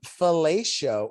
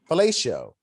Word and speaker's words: fellatio: And he can perform fellatio on himself. Fellatio. I said it right. I thought you said fellatio. Fellatio. Yeah, fellatio. You didn't put the EO. You just went O.